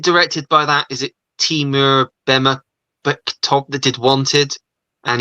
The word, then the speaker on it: Timur: His first name, Ollie, is pronounced Timur. Timur.